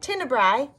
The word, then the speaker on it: tenebrae: That's what it sounds like, tenebrae. Am, so we don't really pronounce that E.